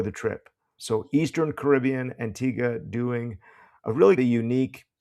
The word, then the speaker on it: Antigua: Yes, I was in Antigga, which I just learned how to pronounce before the trip. So, Eastern Caribbean, Antigga, doing a really the unique project related location scout that we can talk about it.